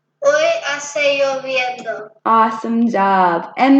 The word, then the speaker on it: hoy: Hoy. Yeah, so we don't pronounce that H at all.